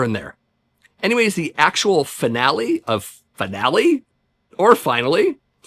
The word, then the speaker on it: Finale: Moving on to track 10, we have finale or finally as it's pronounced in the song. Either basically works here.